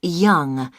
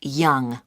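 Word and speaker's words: Yonge: your name yes it's young jh young that's that's spelled y o n g e that's young i see and your address 15.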